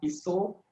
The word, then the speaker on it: pisau: And then your AU sound will be the O sound. So things like pisau will become piso, kalau will become kalau.